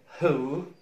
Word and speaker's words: who: تاني WH H لا تنطق، لكن WHO ال H تنطق، لكن ال W لا تنطق. For example, who, whoever, whosome.